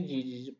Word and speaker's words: DiD: Na verdade se pronuncia did, pode ser de inf, a maneira mais tradicional de se pronunciar.